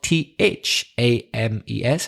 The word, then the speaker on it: Thames: mas or the River Thames the famous River which goes through London it's spelt th a mes and it's pronounced Thames and the word time